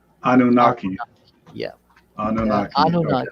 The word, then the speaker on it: Anunnaki: Yeah, and the name, it's not a name, it's a sentence, and it's pronounced Hayanunage, and in English they call it Anunnaki. Anunnaki.